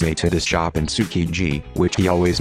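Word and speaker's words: Tsukiji: friend always brings a to this job in sukiji which he always mispronounce tsujiki jilgai shijo after more than three years Gap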